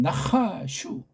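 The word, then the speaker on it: נחש: 뱀도 고뱀한테 한 나하슈. 발음도 좀 정확하게 읽어야죠. 나하슈. 나하슈. 슈슈슈.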